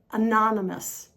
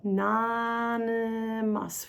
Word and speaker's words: anonymous: The next word, anonymous. Anonymous. We go. Anonymous. We've got the N and the M going together.